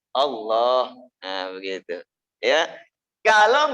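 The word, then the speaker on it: الله: Berarti berapa harkat? 2. Cuma cukup 2 ketukan. Tuk tuk Allah.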